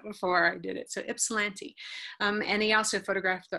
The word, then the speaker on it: Ypsilanti: I had to look up how to pronounce that one on the internet before I did it. So Ypsilanti.